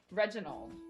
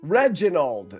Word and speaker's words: Reginald: Reginald. Reginald.